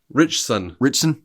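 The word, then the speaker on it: Ritchson: I think alen richson it's like rich and there's a t for some reason and then there's the word sun right and like I don't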